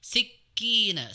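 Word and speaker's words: سِكِّينًا: Jadi untuk kafnya tasdid ya Ummu ya. Tadi terbacanya tidak tasdid harusnya ditasdidkan. Waatat kulla wahidatim minhunna sikina waqolat. Jadi sikina sikina bukan siki tapi sikin ada tasdidnya.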